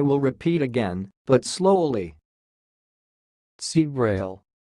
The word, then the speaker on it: ceabhrail: of this word is sounds like see Braille see Braille and I will repeat again but slowly see Braille see Braille that's all thanks for